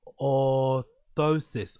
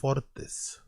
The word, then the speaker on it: orthosis: How the do you pronounce that word? How to pronounce orotus? Is it orthotis? Oris orthosis. Orosis orosis. Orthosis. Orosis. Orthosis. Oosis. Okay. Orthosis. Orthosis. Cool.